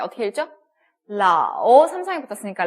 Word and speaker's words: 老: 아오, 네, 러 발음에다가 아오가 붙었습니다. 어떻게 읽죠? 라오, 삼성이 붙었으니까 라오 갑니다.